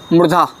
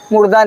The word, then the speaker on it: मूर्धा: रिटुर सानांग, रिटुर सानांग मूर्धा। क्या लिखा है? लिटुल सानंग मूर्धा। मुर्दा नहीं, मुर्दा कहाँ से, मुर्दा बोल पाएगा? रिटुर सानंग मूर्धा।